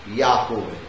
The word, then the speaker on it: Yahweh: Yahweh ang transliteration, pero ang tama, correct pronunciation ay Yahweh.